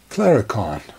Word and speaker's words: Claricon: unit in it so those of you who think I miss pronounced the name I didn't it actually is Clara can't see even even Google